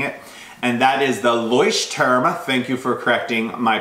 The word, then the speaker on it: Leuchtturm: And that is the Leuchtturm, thank you for correcting my pronunciation, 1917 bullet journal.